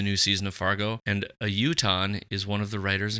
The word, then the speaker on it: Utahn: season of Fargo, and a Utah is one of the writers and producers. Is that how you say it, a Utah? That's what I'm assuming, yeah.